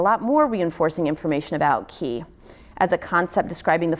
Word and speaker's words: qi: And although ki has commonly been associated with traditional Chinese culture, pronounced chi if you're familiar, when I say that everyone's like, oh, now I know what you're talking about.